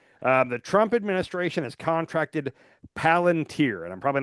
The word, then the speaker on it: Palantir: Okay, the Trump administration has contracted Palantir, and I'm probably not saying that right, You're saying it right, Palantir.